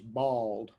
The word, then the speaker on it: boiled: Roasted peanuts or boiled peanuts? The correct pronunciation is bald, Boiled.